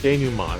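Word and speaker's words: dénouement: denouement, that's how you say it.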